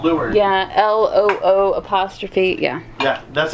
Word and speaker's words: leeward: Yeah, LOO'.